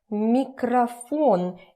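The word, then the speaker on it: микрофон: remember the pronunciation and don't ask me why I'm pronouncing it as a microphone because we already know when stressing goes here this one turns to ah microphone again look at the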